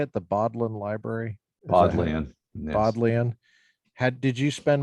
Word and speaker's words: Bodleian: Bodleian. Yes. Bodleian. Did you spend much time in that library when you were there? Yeah. What was that like? It's like the Bodleian best Library?